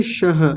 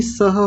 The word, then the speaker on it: सह: लेकिन एक बात का अभी ध्यान दीजिए, ये देखिए आप बोल रहे थे शह, शह नहीं सह होता है, ये वाला स बोलिए।